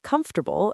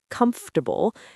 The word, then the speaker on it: comfortable: For example, learners might read the word comfortable and pronounce every single syllable very clearly in their head, but in real life, people say comfortable, and suddenly it sounds like a completely different word.